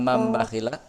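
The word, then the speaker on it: مَن بَخِلَ: Dalam mambakhila? Nun sukun. Cara bacanya bunyi huruf nun sukun itu diganti dengan huruf mim. Contohnya mambakhila. Baik.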